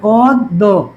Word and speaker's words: অদ্য: এরপরে এরপরে দেখো এরপরে আমাদের পদত্ব শব্দের মধ্যে দেখা আছে অদ্য, অদ্য শব্দের আদিতে অধ্বনি, তারপরে এটা কি ওকারান্তের মধ্যে হবে অদ্য, অদ্য।